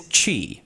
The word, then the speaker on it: Qi: so which is pronounced Qi.